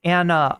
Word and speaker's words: ana: you narell B nature the Turkish word for mother is an it's pronounced like Anna oh okay I didn't